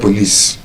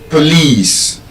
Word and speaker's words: police: It's not please, it's not police. There's a schwa sound in the O. And I think I mentioned the schwa sound. Schwa mom. It's not shawarma, it's schwama. There's a schwa sound at the end. So, there's a schwa sound in the first syllable. So, it's not po, it's pro. Police. Police. Police.